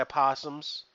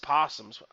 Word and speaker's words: opossum: We give you the best bananas, my opossums. There's just possums. I hate that word. Why is it opossums? It should just be possums. But I'm giving you the Possum. best bananas. The O is silent.